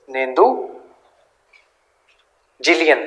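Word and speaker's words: Neduncheliyan: Next लिखो नेंदुजिलियन, नेंदुजिलियन ये भी किंग ही है इनका, NENDUJELIAN, नेंदुजिलियन, सॉरी जुलियन नहीं जिलियन, नेंदुजिलियन, NENDUJELION, नेंदुजिलियन।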